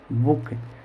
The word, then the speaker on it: book: जैसे मैंने यहाँ लिखा BOOK, बुक, तो यहाँ पर मैंने लिखा बुक, इसको क्या पढ़ेंगे? बुक। तो यहाँ पर जो डबल ओ आया है इसका उच्चारण होगा छोटा ऊ।